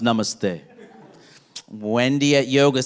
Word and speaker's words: namaste: tea foreign t Y and then I say namaste it's pronounced namaste Wendy at yoga says Namaste I don't know